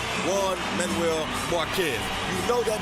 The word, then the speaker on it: Juan: Not hard at all, especially when you hear the name Juan Manuel Marquez. You know that means trouble as soon as the J part comes out. Although it's pronounced with a W, as in Juan, you know when you hear that, that means war.